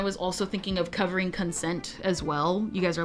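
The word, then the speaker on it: Concent: It was when I was also thinking of covering Consent as well.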